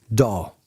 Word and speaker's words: DAW: audio workstation or daw usually pronounced as one word doll and the type of